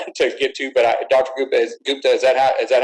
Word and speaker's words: Gupta: Gupta, is that how you pronounce it?